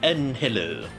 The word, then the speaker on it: Angel: It's Angel, pronounced as Angelo.